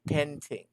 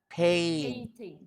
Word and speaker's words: painting: i was little okay can you say painting not painting paint eating painting you know the word pain it's like that pain and then ting pain ting all right all right